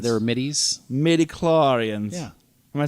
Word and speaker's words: midichlorians: midichlorians? They were middies. midichlorians.